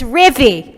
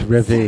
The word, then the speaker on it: Ribby: people like me where everybody gets my name wrong it's ribby it's ribby that's first of all